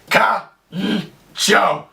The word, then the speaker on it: kancho: is known as Kono pronounced exactly the way it's spelled kcho now the direct translation